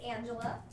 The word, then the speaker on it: Ange: hello my name is angela and you can call me ange it's simple and easy to pronounce who's got the time for ella it's really just the ange sound of orange and who doesn't like